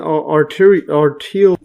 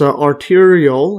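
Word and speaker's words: arteriole: vessels and over here this is an arter Aral or actually pronounce arterial yes arterial and this is a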